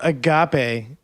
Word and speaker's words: agape: not going to join dude agap is how you say it but um so that's